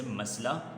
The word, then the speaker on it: مسئلہ: بہت بڑا مسئلہ ہے۔ مسئلہ لکھتے ہوئے مسئلہ لکھا جاتا ہے، لیکن پڑھتے ہوئے اسے مسئلہ پڑھا جاتا ہے، ٹھیک ہے۔ اگرچہ درست لفظ، درست تلفظ مسئلہ ہی ہے۔ پانی کے بغیر کوئی